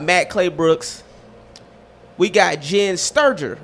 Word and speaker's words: Sterger: We got Jenn Sterger, right?